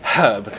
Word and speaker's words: herb: said a little herb I would say herb I would pronounce the h um so actually in